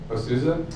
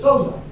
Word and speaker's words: Souza: Osouza? Osouza, yeah. Osouza. Is it Osouza or just Souza? Just Souza. There's no name.